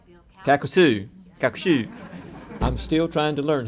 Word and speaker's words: Calcasieu: Calcasieu.